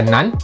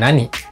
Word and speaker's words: 何: Jawabannya bisa dibaca nan dan nani.